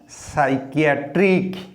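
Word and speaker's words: psychiatric: टिके मने रखिबो पी उच्चारण हुए नहीं ये साइकियाट्रिक पी उच्चारण हम नहीं साइकियाट्रिक क उच्चारण है यहाँ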